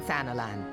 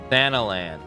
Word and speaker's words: Thanalan: limsa limsa now what news from sanalan thanalan oh that's how you pronounce it Santa Santa foreign got you